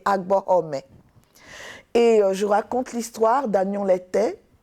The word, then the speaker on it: Abomey: Je pars dans l'actuel Bénin, à Abomey, dont la vraie prononciation, m'a-t-on dit, est Agbohomey.